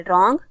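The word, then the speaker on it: wrong: pronounce नहीं कर रहे रंग इसमें डब्लू साइलेंट है नाइफ इसमें के साइलेंट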